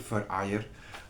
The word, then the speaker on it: Verrier: It's pronounced a few different ways. It's easy for me to pronounce it that way and it's accepted Verrier.